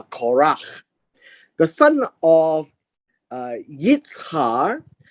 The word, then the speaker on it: Korach: you read now the the quran actually uh in in a proper pronunciation is uh korach the son of uh